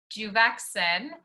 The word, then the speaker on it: Juvexin: car wherever you are if you just say it juvexen it is how you pronounce our specific keratin and we are the